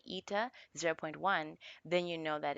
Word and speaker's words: eta: This curly-looking N is actually called eta or ata. Not really sure I pronounce it, but I call it eta.